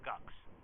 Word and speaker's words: GUCS: First of all, who knew before they walked in the room that it was supposed to be pronounced GUCS?